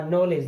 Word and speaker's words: knowledge: डी और जी देखिए, KNOWLEDGE, डी के बाद जी आया, डी हो गया साइलेंट, हम डी को नहीं बोलेंगे। हम जब इसका उच्चारण करेंगे तो ये बनेगा नॉलेज। नॉलेज मीन्स ज्ञान या जानकारी।